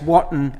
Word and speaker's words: Watton: he used to say it's Watton as in cotton, not Wooten as in Rooten.